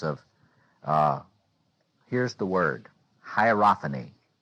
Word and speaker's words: hierophany: about the sense of uh here's the word hierophany hierophany can anybody spell it h i e r o p h a n y hierophany uh uh the word hopan let me